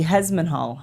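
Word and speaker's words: Hesmondhalgh: then lastly we have I had to look it up Julie hehal I think that's how you say it h e s m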